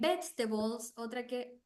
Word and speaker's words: vegetables: time in singular and vegetables vegetables vbls like this the word has four um what's the name of of it four syllables four syllables B J a balls but the pronunciation only has three B the balls balls